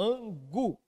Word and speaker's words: angu: Eu pergunto a você, meu aluno, qual que é a sílaba tônica da palavra angu? Aí você vai me dizer, professor, é esse gu aí do final, ó. Angu, não é isso?